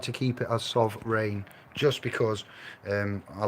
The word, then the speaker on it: sovreign: It's the same as sovereign, but it's a play on words, so phonetically, it doesn't sound the same as sovereign, does it? Sovreign.